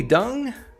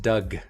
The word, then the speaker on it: Doug: i first dung dung you call me dung it's pronounced doug past tense of dig five thousand pine points